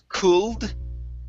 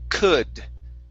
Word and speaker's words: could: in our next word the l is silent so instead of saying cooled with an l sound it's could could try that one could